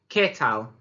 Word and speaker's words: qué tal: Remember to pronounce it correctly. It's a little bit like you're saying the capital letter K rather than saying que, like we might do if we were pronouncing it in English.